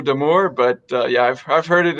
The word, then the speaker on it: D'Amours: Yeah, well, in French, the S at the end is silent, so it's Damour.